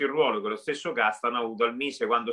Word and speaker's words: Castano: Consiglio Arvedi, consiglio straordinario, ci sarà Castano, lo pronunciamo così.